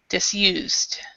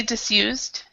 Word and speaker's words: disused: of it so disused that's a t sound actually the E is silent and then it's a t disused okay okay and then